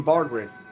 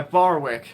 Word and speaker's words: Barwick: it to you, but there's no D in Bardwick. Yeah, Barwick.